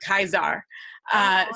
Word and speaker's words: Caesar: say about the pronunciation, is that sort of soft C, hard C thing is something that we've become really accustomed to when we talk about, say, Cicero. But his name really in Latin would have been Cicero. And, you know, same thing for Julius Caesar, it would have been Caesar. So would sound so weird to us, but it all would have been that hard C.